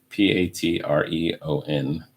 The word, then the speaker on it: Patreon: 2020 is a year of resilience, according to is it Patron? How do you even pronounce that? Patreon.